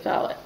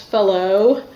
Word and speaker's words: Fallot: of the tetralogy of Fallot so it's probably pronounced fellow because I think it was a French cardiologist who originally characterized it but I hear people say it both ways so this is the